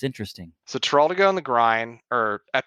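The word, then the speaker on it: Teroldego: Yeah, Teraldigo.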